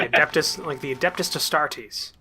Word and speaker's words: Adeptus Astartes: Yeah, like the Adeptus Astartes. That's how it's actually pronounced.